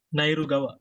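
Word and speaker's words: ナイル川: Apa itu contoh apa nairu Gawa nairu Gawa gitu kan Nah nairu nairu Gawa nah ini dibacanya Gawa gitu Gawa bukan kawa lagi ini to ya Gawa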